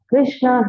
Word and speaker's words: Krishna: is called as Krishna Krishna has two syllables Krishna a which says